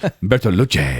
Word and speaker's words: Bertolucci: It's pronounced Bertolucci.